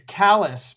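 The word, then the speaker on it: Callis: center i i'm similar my last name is is kallus but it's c-a-l-l-i-s so i get all sorts of interesting pronunciations and uh but yeah more often than not they'll say some version of callus and it's good enough where are you coming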